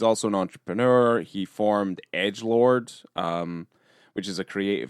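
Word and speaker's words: EDGLRD: know that it I you said Edgelord, and I'm like, huh? Yeah, cuz it's spelled E D G L R D all caps.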